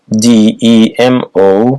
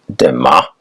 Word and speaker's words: demo: Demi World demitas prefix d e m o pronounced DEA or demo meaning people examples democracy